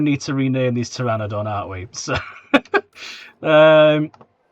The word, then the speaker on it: pteranodon: I get the feeling we're going to need to rename these pteranodon, aren't we? So, um, right, there we go. We have Terry with a silent P.